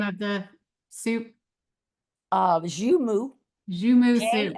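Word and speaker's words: joumou: Uh zumu zumu soup o u m o zumu zumu soup.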